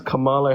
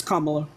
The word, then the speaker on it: Kamala: why is that because Camala Harris isn't good that's not how you pronounce her name that's not how you well he's not running and also that's not how you pronounce your name it's Kamala yeah but they've been